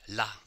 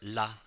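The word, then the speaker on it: là: this is very important if you compare la la the pronunciation is exactly the same LA with the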